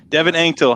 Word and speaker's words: Anctil: pronounce it for us that's all right it's pronounced anctol anktil how are you tonight man oh i'm doing